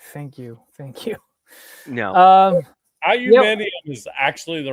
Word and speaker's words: aluminium: No, aluminium is actually the right way to say it, though.